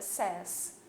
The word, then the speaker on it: says: Aqui mudou um pouquinho a pronúncia, tá? É says.